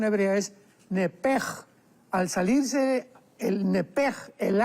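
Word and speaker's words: נפש: hebrea es muy importante porque es la palabra nepesh con sh al final. Neph. En el hebreo se pronuncia eh la sh con j. Entonces, la pronunciación hebrea es nepej.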